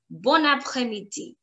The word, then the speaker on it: bon après-midi: But if I put a pause in between, bon après-midi, I'm putting a lot of pressure on it. Bon après-midi. I want more, I want fluency. So I'm going to say bon après-midi, bon après-midi.